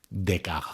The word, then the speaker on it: Descartes: su nombre ya que en francés se pronuncia de caja porque lo vamos